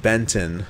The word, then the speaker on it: Benton: We'll come up on the town of Benton, which rhymes with Fenton.